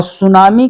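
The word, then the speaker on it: tsunami: और सुनामी को अंग्रेजी में ध्यान दीजिएगा। इस ढंग से लिखा जाता है। इसमें जो टी है वह साइलेंट मोड में रहता है।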